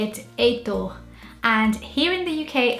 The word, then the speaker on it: Heitor: And in Portuguese, or Brazilians would say it Heitor. And here in the UK, I've never seen this name spelled like this.